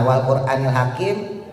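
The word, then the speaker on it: وَالْقُرْآنِ الْحَكِيمِ: Nah, wal quranil hakim. R-nya dibaca tebal. Masih ingat ya? R-nya dibaca tafhim tebal.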